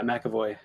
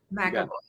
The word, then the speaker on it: McAvoy: Is that how I pronounce it? Yeah, McAvoy. McAvoy.